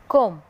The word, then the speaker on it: comb: so we have to add B here, then we will pronounce it thumb. and number 3, comb.